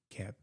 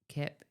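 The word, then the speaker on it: Koepp: Keep Kip. That's a weird way to spell that.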